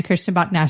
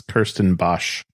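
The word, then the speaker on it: Kirstenbosch: they had and then the Christian Bach botanical gardens I said it wrong ago chrisan Bach botanical gardens which is phenomenal if you don't like so the people that are trying to find this is Kirsten Bosch oh sorry yeah B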